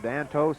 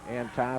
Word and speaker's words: Antos: I don't think I've ever heard anybody say it any differently than Antos, but Antas is apparently the correct pronunciation.